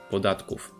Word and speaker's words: podatków: Remember that o with an accent is pronounced as u, and final v devoices to f, podatków.